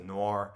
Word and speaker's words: noir: of movie and nor movies said how you pronounce it noir yeah i'm not i'm not a big fan